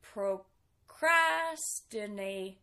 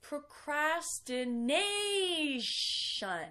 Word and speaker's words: procrastination: be difficult to pronounce some mistakes that I've heard would be saying something procrastinating not quite its procrastination so remember the stressed syllable is the second-to-last nae shun and that tion makes us shun sound procrastination means waiting until